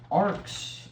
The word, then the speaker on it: arc: and moving on to arcs. Arcs are cool. This is the section. That shouldn't be too much fun. Arc. Not arc like Noah's Ark, but arc as spelled like this, not with the K, which is a big